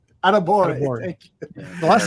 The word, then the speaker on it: Adebawore: Niel, tell me your love about I thought I had the name pronounced correctly, but I'm going to try it. Adebayor. No, can't do it. Adebawore. Adebawore.